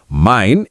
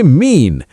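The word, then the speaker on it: mein: EI is equal to AI sound. Mine is equal to mine, my. So don't say mean. German will cry.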